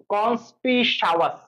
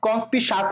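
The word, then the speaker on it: conspicuous: কনস্পিসাওয়াস, সাওয়াস বলবা, নিলে তোমার কিন্তু ইউটা আসবে না। তুমি যদি কনস্পিসাস পড়ো তাহলে কিন্তু ইউ ওটা আসবে না, কনস্পিসাওয়াস পড়বা।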